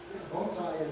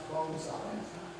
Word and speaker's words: bonsai: them okay so yeah Bonsai is it is pronounced but it is it is perhaps bone size yes it's not Bonsai Bonsai actually means Tree